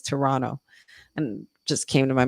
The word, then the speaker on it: Toronto: Toronto like they're saying you don't pronounce the t's as strongly so it's Toronto and just came to